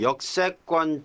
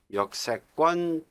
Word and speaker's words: 역세권: 우리 발음은 역세권이라고 하지만은 표기는 세는 어이세자입니다.